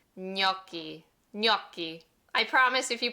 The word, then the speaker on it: gnocchi: Gnocchi. It's like instead of the GN, pretend it's an NY. Gnocchi.